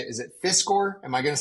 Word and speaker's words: Fiscor: Is it Fiscor? Am I going to say that right? Okay, good. Kevin Fiscor with Fiscor Plumbing and Air.